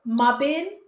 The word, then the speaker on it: Mebane: Her name is Mesha, and her last name is pronounced Mabin. Am I saying Meb- it right? Mabin. Mesha, Mebane.